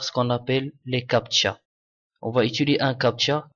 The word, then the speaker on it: CAPTCHA: capcha est un rétroacronyme le mot se prononce comme capcha en anglais américain il est censé être